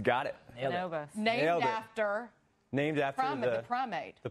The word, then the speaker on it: Bonobos: They are co-founders of the men's internet retailer, and guys, if I say it wrong, Bonobos. Got it. Bonobos.